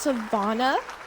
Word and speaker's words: Savannah: It's actually pronounced Savannah, but thank you for having me.